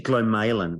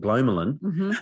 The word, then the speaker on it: glomalin: And it's actually glowin apparently is how they uh it's supposed to be pronounced. And I had I had no idea how it' be pronounced because we s I used to call call it glolin um because we'd only ever read it and never heard it um talk about it.